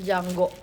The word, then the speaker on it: Django: Cuma harus nonton Django. The D is silent.